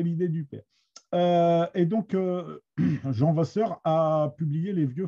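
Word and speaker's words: Jehan: Jean Vasseur, le fils, ça s'écrit comme Jeanne d'Arc, J-E-H-A-N. Hein, je vous dis, c'est une fantaisie de Gaston. Il a souhaité que son fils s'appelle Jean avec un H, ce qui a emmerdé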